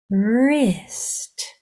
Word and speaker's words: wrist: have that R sound this I says I because the next two letters are consonants so your sounds are her I wrist wrist lovely let's try this